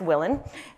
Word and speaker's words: Willen: introduction my name is willin pronounced Willen and I am the